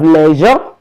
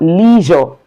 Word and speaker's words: leisure: Then we have leisure or leisure. These two pronunciations are correct.